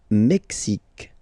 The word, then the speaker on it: Mexique: Le Mexique. Le Mexique. Mexique. It's really the X. Huh? Le Mexique. And then remember this Q-U-E, it's only K. Mexique.